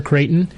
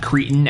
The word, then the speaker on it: Creighton: center for Creighton. Not Cretan, as I say in the interview.